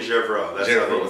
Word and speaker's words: Gervreau: Julien Gervreau. Thank you. That's how the Americans say it.